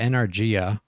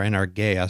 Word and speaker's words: enargeia: Yeah, enargia, or enargeia, sometimes pronounced.